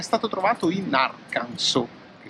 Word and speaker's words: Arkansas: è stato trovato in arkansas che si scrive a kansas ma si pronuncia arkansas non so perché seconda